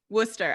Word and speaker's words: Worcester: Worcester. All right, perfect. Our It's pronounced Worcester.